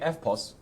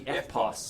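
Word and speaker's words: EFTPOS: in Australia says, the FPOS, The FPOS. because they don't pronounce the T. It's an FPOS.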